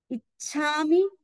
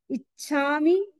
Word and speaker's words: इच्छा: में आपको दिखाती हूं इच्छा च और छ है इसलिए हमें जोर लगाना है इच्छा इच्छा पड़ कमम आप